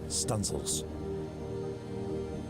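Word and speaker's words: studding sail: stanel Booms to set studing sails pronounced stanil this was known as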